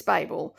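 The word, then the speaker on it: Babel: I do have an answer to how it's pronounced and it's it's bab um and anyway so basically it's definitely that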